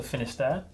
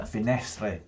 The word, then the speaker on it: Finestre: If you'd like to check out the epic climb of the Col de Finisterre, click over there. Finestre. Oh, I'm not French. Leave your comments about its pronunciation in the comments below.